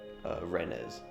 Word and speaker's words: Rennes: went to this town called Rennes, or Rennes as they pronounce it.